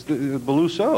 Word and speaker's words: Beluso: We should say that the guy didn't even pronounce his name right. It's Beluso. It was three right. syllables.